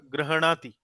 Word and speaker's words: गृह्णाति: आप देख सकती हैं ह के नीचे हलंत लगा है, तो ह जो है आधा है, और न जो ये राणा में जो ये ण आता है वो पूरा है। तो इसका जी उच्चारण होगा ग्रहणाति।